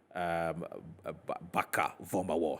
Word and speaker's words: Barker-Vormawor: Right, so that's the police statement on Oliver Baka-Vomawo. That's how the name is pronounced.